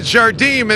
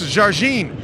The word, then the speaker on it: Jardim: wrong all these years we always said Jardeem and right before when it went on the air they said no it's Jarine you know what